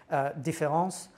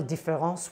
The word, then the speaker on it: différance: favorite example is one when difference which shouldn't be pronounced differently but nonetheless is when